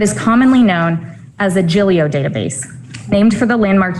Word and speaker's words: Giglio: with the court case it is tempting to pronounce jillio with two hard g's like giglio i want to thank